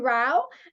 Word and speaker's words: Rowe: Just a little side note, it's Rowe and not Row.